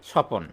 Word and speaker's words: স্বপন: যেমন ধরেন আমরা লিখলাম তিন নাম্বারে স্বপন। তাহলে এইখানে আমরা স্বপনের ব। এই ব টা কিন্তু উচ্চারণ করি না।